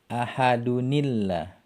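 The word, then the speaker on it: أَحَدٌ ٱللَّهُ: Kalau kita mau baca bersambung, bacanya ahadunillah. Ahadunillah. Seperti itu bacanya.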